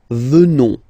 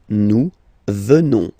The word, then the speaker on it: venons: Final S not pronounced. So you will get the sound venons. Nous venons.